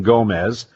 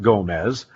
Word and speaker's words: Gomes: some quite livid um with uh Andre Gomes because they're looking at it and obviously familiar with Spanish they're thinking Gomez um in Brazil it would be a little bit more like Gomez but in Portugal it's almost like a silent E it just changes the sound of the O so I remember